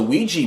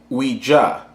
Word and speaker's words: Ouija: at the word it's Ouija and if you talk to my good friend Webster and look at his dictionary he'll say that either pronunciation is okay so today I'm going